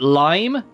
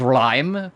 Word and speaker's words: Lime: came to the localization, Lime is like 99% of the way there. Like, it's more like Lime, like it's like there's more like a rolling R, like an invisible letter in it sort of bullshit.